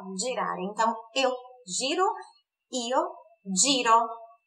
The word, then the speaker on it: girare: Girar é girare. Só a pronúncia do G que é explosivinha, então, ó, girare.